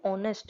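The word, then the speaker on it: honest: क्योंकि ये ऑनेस्ट है। जब हम इसे प्रोनाउंसिएट करें तो एच साइलेंट हो जाता है, ओ से हमारा वर्ड निकलता है।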